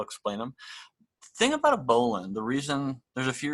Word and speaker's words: bowline: so here's a bowline it's spelled just like a bowline so if you've ever seen that in writing and wondered what a bowline is or a bow line it's a bowline so this is what